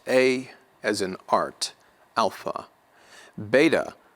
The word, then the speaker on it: beta: Beta will be pronounced as B in English, like boost, boost.